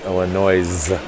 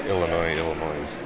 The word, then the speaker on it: Illinois: Most of whom call my home state Illinois, which has a silent S on the end. I would never pronounce Illinois.